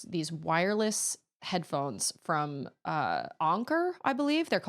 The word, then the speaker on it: Anker: Ancher is pronounced anker.